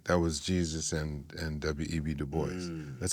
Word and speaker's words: Du Bois: is Du Bois, not Du Bois, right? Because people, depending on who you talk to, they try to get fancy with the I name. know he pronounced it the anglicized way, Du Bois.